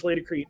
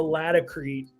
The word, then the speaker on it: Laticrete: 65 years or more, people know it as Laticrete. If you go down to the South and certainly out West, it's more of a Laticrete pronunciation, but I thought maybe it was just because it was my Southern accent, Laticrete.